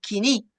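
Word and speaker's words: koiné: En griego ágape viene del griego, del griego que se llama coiné o en la pronunciación moderna le dicen quiní.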